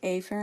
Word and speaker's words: afferent: division it's the afferent but I'm going to say a fair I'm going to over pronounce to make sure that we spelled correctly so what happens in